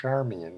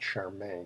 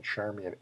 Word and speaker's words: Charmian: grandchilden by the way her name is pronounced charman not Charmaine charman after one of Cleopatra's servants and she pretty much